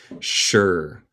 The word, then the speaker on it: sure: And I'm, un contraction de I am, yo soy or yo estoy, sure. Nota la pronunciación, es como SH, sure, segura or seguro.